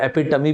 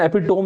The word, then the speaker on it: epitome: इस वर्ड का pronunciation एपिटोम नहीं होता दोस्तों, इसका प्रोनाउंसिएशन होता है एपिटमी, याद रखिएगा, ठीक है, एपिटमी।